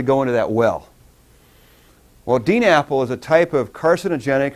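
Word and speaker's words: DNAPL: DNA PL and and I pronounce that Dean Apple because it sounds like an Apple thing okay that barrel up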